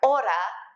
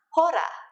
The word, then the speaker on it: hora: pronunciation reminder remember that you don't pronounce the h's when they come at the beginning of a word like hola is ola and not hola just like ora is not hora repite because we are